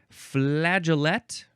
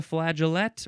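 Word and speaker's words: flageolet: a long time now we have flaget or flag F laa g e o l t uh this is a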